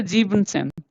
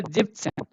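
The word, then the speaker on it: siebzehn: Sieben, we don't say Siebensen, okay? We say Jibsen. Okay, this is the exception. You have to remember Jibsen, okay?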